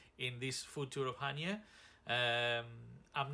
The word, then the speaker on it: Chania: Right, to let you know, most English speaking people called the town or city Chania. The correct Greek pronunciation is Chania, the emphasis on the last syllable, Chania.